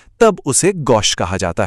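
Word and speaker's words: gauche: यह थोड़ा ट्रिकी है। इसे पढ़ते हैं गोशे।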